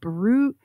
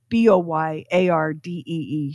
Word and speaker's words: Boiardi: But people struggled to pronounce the name because it was spelled Boiardi. Mm-hmm. They were like, are you Barut? So he said, all right, we're going to change the spelling to Boyardee, Chef Boyardee.